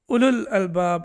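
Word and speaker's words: أولو الألباب: So when we recite it, when we are reciting the Quran, it will be only u, ulul albab.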